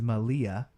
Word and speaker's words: Malia: The correct pronunciation is Malia.